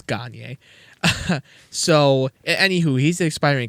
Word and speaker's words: Gagner: Not Gagner. His last name is spelled Gagner. In my video, I said Gagner, and You got lit up. Oiler fans were pissed. They're like, "It's Gagner, you stupid idiot."